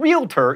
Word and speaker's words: realtor: It's prescription, not prescription, and realtor is only 2 syllables, not 3.